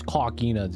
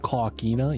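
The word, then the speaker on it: coquina: Dude, I'm calling this cockina, dude.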